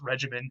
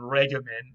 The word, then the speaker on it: regimen: word regimen and again in latin all g's were hard so even though we would like to pronounce this regimen and we do today in english um this would have been regimen or something like that in latin now in latin this